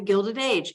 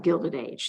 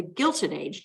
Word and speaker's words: Gilded Age: the Gilded Age they're confused about even how to say it I'm see some people call it the Gilson age g-u-i-l-t I'm guilty of eating cake last night for dessert some people call it the Gilda g-u-i-l I belong to an